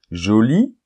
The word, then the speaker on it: joli: Joli, joli. Là non plus, il n'y a pas de différence au niveau de la prononciation puisque le E final est muet.